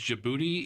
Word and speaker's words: Djibouti: it's jaib boti yeah but it's spelled DJ DJ Djibouti DJ I don't know uuti or something like that or like Jango the D is silent that's why some people